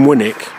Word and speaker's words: Winwick: in Warrington you know in winick and the name winick win Wick that's the way it's spelled well that points towards